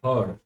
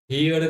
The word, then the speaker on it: heard: Praised, praised us when she हर्ड, हर्ड, हियर्ड नहीं बोलेंगे, हर्ड, क्या हर्ड सर जी।